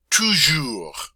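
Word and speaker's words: toujours: here it is - sure - sure that S is silent so give that are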